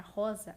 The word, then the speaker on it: rosa: A palavra rosa, ela tem um R só, mas ela tem um fonema duplo, porque esse R, ele assume um som de RR. Então, é como se nós estivéssemos falando 2 R's ao mesmo tempo, certo?